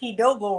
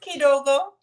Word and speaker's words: Kidogo: If you say Kidogo wrong one more time, I say, oh, hippie, but it's just Kidogo.